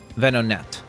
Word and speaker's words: Venonat: I always forget how to pronounce this one's name. Or Venomath. Venonat.